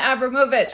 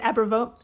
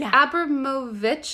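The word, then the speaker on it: Abramović: Is it Abramovic or Abramovich? So it's Abramovich, I believe. Okay. But I kept pronouncing it so wrong to all of my editors. Like, I would say, Marina Abramovic.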